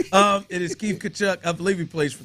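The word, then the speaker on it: Tkachuk: how you say it tachu I don't I think that Tia is kachuck you're right that Tia silent um it is Keith kachuck I believe he plays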